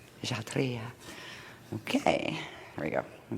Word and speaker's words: Kshatriya: Kshatriya.